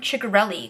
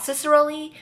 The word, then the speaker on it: Ciccarelli: have a new book by Kristen Ciccarelli coming out, which FYI, I've heard that's how you pronounce her last name, not Cicerelli, but if I'm wrong, please feel free to correct me.